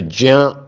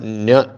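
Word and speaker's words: ज्ञ: सो ज्या is wrong और न्य सही है।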